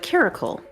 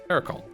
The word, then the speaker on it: caracal: don't trust myself uh it's pronounced uh caracle caracle like Oracle but caracle no leave him be